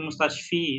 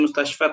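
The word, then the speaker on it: مستشفى: Sama juga mustashfa, fa. Nggak jadi fil mustashfi, ya, enggak. Tapi fil mustashfa tetap fa. Karena nama rumah sakitnya ya Ustaz ya? Karena ada alif bengkoknya.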